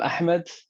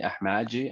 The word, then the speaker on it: Ahmed: For those who can pronounce it the right way, or should try to pronounce it the right way. I have no problem if Black people don't pronounce it the right way. I even like it when in Brazil, in Bahia specifically, they call me Ahmadji, and well, like, yes, this is my name now when I'm there.